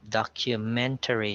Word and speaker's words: documentary: Then we have documentary, so the stress is on the third syllable.